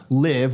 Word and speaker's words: LIV: LIV, which obviously how you pronounce it rhymes with give, is actually the Roman.